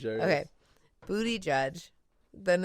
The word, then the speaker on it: Buttigieg: Booty Judge. Yeah, Close? just Booty Judge. There Okay, Booty Judge.